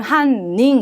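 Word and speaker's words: 犯人: 인자 발음 조심. 한닝 이때는 징이라고 읽기 없기.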